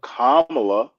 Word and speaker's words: Kamala: And the reason I know how to pronounce it is I have a sister named Pamela. We don't call her Pamela, but Kamala is how you pronounce her name.